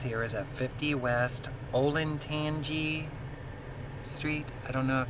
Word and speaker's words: Olentangy: The address here is at 50 West Olentangy Street. I don't know if that's how you say it. Olentangy. It's Olentangy.